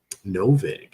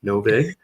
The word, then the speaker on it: NoVig: We have NoVig. I believe that's how it's pronounced. That's like vigorish. NoVig.